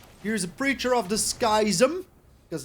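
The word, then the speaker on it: Schism: a preacher of dis skism cuz that is how you pronounce it is dis skis him that is right that is 100% right okay so what are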